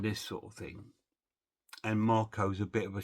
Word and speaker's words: Mark: line with Ka and Marco or Mark. They call him Marco in in this language.